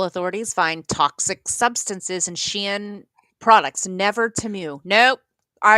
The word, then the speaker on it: Shein: I know that we joke about my pronunciation on a lot of things, but I really don't believe it's pronounced Shine. I say Shein because back in the day, I was actually a customer when it was called She Inside.